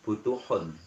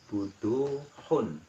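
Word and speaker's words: بدوح: Di situ ditulis butuhun. Ya, tapi bacanya tetap butuhun. Itu kata saya menghilangkan arti. Harusnya buduhun. Dalnya itu agak panjang satu ketukan.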